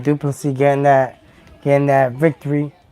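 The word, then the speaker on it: Du Plessis: congratulations sir all right duplicity getting that getting that victory over there until duplicate you know that he said the S is silent but um you know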